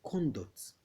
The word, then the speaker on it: conduct: So when you stress the first syllable, it is the noun syllable. And when you stress the second syllable, which is the duct is the verb syllable.